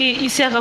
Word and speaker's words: Ishaka: Ah ok Ishaka. Ishaka tere kanan to ga Ishaka no Isha comme le chat Isha.